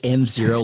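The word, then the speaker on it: env0: n is it pronounced nzero EnV Zer what yes that is the number one piece of feedback I get is your name is hard to say so it is mzero like environment zero um it's kind of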